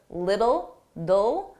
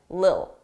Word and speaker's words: little: pronunciation A little little native speakers we don't pronounce T's between two vowels it will be either a very soft D lid little do or you just won't hear it Lil Lil a little a